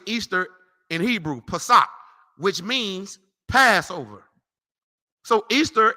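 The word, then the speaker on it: פסח: You want to know how you say it in Hebrew? Pesach, which means Passover.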